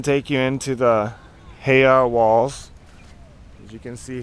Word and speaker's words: heiau: So I'm just going to give you a little panorama of Kane'ilio Point, which is where the heiau is located.